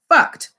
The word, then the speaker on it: Fuct: The name of the clothing line is spelled Fuct. Now, for those of you with sensitive ears, please forgive me, pronounced fucked.